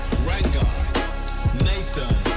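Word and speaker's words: Ranganathan: It's rang Nathan.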